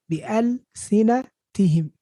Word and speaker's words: بألسنتهم: This is 6 syllables. I don't know, some people said 3. No. B, that's 1. L, that's 2. C, 3 here. Na, 4. T, 5. Him, 6. بألسنتهم.